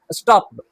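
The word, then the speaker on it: stopped: स्टॉप्ड या स्टॉप्ड, स्टॉप्ड, हम पूरा टा नहीं लेकिन टा का साउंड आएगा, स्टॉप्ड, आई स्टॉप्ड यू, मैंने तुम्हें रोका, स्टॉप्ड नहीं, स्टॉप्ड। और समझ में आई?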